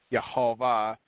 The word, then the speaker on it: Yehovah: He found the first vowels in his first manuscript that gave the correct pronunciation for the YHVH, which is Yehovah, which is anglicized as Jehovah.